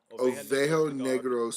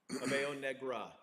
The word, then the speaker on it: Oveja Negra: Ovejo Negro Cigars. Ovejo Negra. It is Negra. N-E-G-R-A. Okay, so Negra.